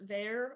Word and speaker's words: Ver: Hi, I am Ver, or is the easier way to pronounce it, with the abbreviated version.